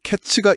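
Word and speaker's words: קֵץ: 그러면서 내 백성 이스라엘의 끝 히브리어 캐츠가 이르렀다고 말씀하시죠. 아까이츠랑 캐츠 발음이 비슷하네요.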